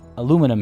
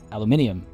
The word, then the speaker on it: aluminium: the american way um they say aluminum here uh but i say aluminium um which is which which is not only british but also correct uh scientifically um but uh but